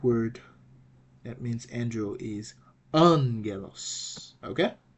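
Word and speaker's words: ἄγγελος: uh key okay so it is pronounced like an N so the right pronunciation for for the Greek word that means Andro is Angelos okay Angelos what about this word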